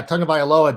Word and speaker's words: Tagovailoa: You're always like, oh yeah, Tagovailoa does this and that.